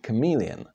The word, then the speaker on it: chameleon: Because CH together in Czech are always pronounced H, H.